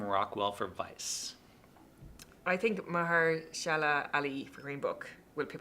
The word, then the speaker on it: Mahershala Ali: Mahershala Ali Mahershala Ali, yeah.